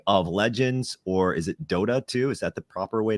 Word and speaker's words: Dota 2: League of Legends, or is it Dota 2? Is that the proper way to pronounce it?